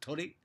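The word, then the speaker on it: 鳥: But the difference is that tori, I might not be able to do it justice, bird, there's only one I at the end, whereas tori for the pi symbol temple, you know, poles, have a double I.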